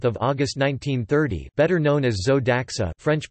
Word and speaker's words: Zo d'Axa: Alphonse Galad de la Perouse, 28 May 1864, Paris 30 August 1930, better known as Zoe Daxa, French pronunciation, Zoe Daxa, was an adventurer, anti-militarist, satirist, journalist, and founder of two of the most legendary French magazines, Landhors and La Foy.